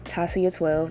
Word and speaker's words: Tahcia: It's Tasia12, that's how you say my name. And yeah, I have that in the description below, because some of y'all probably won't know how to spell it, because some people be flipping the H and the C in